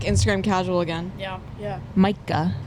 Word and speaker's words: Mica: Mica. Mica.